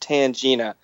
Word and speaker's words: Tangina: name's tangin Tanga um her name in the movie is pronounced tangina but we are most definitely